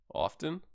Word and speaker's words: often: actually two syllables nuclear often often or often often I I don't pronounce the T often often it's just